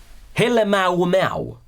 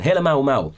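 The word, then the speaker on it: Halemaʻumaʻu: Can you pronounce it? Kilauea. The summit crater called, well, another interesting name, Helemaumau. Again, Helemaumau.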